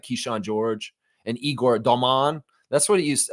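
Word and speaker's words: Demin: Keshan George and Igor Domman. That's what he used. That's how you pronounce that. It's not Igor Demen.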